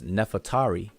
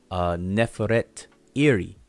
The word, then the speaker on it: Nefertari: But most people pronounce this person's name as Nefertari. Nefertari. They just say Nefertari. But if you look at the Shinu and see her name is actually Neferet Iri.